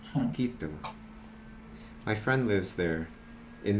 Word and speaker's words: Quito: Yeah, How do you pronounce that city? Quito? Quito. Quito.